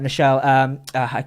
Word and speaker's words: Nichelle: Then obviously you've got Nichelle. I never pronounced the name correctly. Michelle Nichols. There we go. I always actually say Michelle instead.